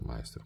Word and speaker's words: Meister: già sbagliato a scrivere ma si pronuncia Meister Questa è una e